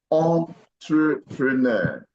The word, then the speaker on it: entrepreneur: the French language that begins with the e n is pronounced as on I hope you understand English words are are coined from the language called French that begins with e n it usually pronounced as on so what we have here is entrepreneur not new all right yeah I